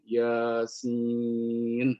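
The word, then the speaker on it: يس: Secara qiraat dibacanya panjang-panjang. Yasin begitu ya.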